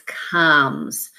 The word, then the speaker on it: comes: not fit our pattern because this vowel sound here is not colds it's not a long oh it's comes so it looks like